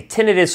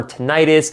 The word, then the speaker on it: tinnitus: also extremely common now I don't care how you say it whether you say tenidis or ttis it is basically a